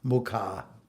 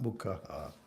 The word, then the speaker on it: muka: It's a long a you know it's and it's the end of a sentence these they go in couplets. So muka if everybody could remember it's not mukaha.